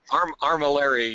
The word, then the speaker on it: armillary: on top of the Amarillo armor Armory I think not pronouncing that word quite correctly armillary yeah armillary oh that's a tongue